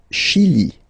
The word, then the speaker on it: Chili: Le Chili, le Chili. Okay, remember, CH, sh.